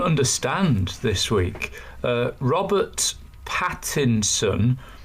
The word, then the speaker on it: Pattinson: this week uh Robert Pattinson I think it's quite difficult to say his name you know the the TV and film star I think everyone wants to say Patterson don't they I think people call